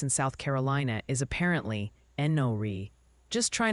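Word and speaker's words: Enoree: Oh, and the pronunciation posse wants you to know that place in South Carolina is apparently Enori.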